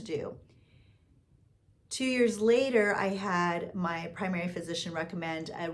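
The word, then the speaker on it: Hatha: And I'm I'm pronouncing it the American way, so correct me in the comments, but I I'm pretty sure that's not the way you pronounce it. I think it's Hata, but in the US, we pronounce it hot.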